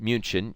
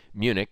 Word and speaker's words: Munich: past we call it munin we it's spelled munin but we call it Munich so um in any